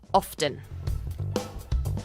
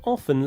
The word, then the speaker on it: often: Yes, some people say often like this. Often. You can hear the t sound. Often. Other people, like Finn, pronounce it with a silent t. Like this. Often. Often. Both ways are acceptable.